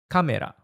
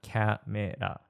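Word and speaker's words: カメラ: Kamera, camera. It's the same word, just with a Japanese twist. Say kamera and not camera. Start with a strong ka.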